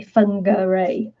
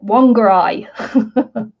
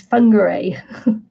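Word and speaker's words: Whangārei: called one finger a that's how the Mary's pronounced that they fun go array and and the local Kiwis and call it one guy one guy but it's em but the but the merry pronunciation is fun gray under they so yes oh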